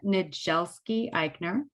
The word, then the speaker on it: Niedzielski-Eichner: worries so i'm nadjelski eichner um in polish a dz is a j sound which makes it a little less manageable it's the dz that throws everybody okay perfect but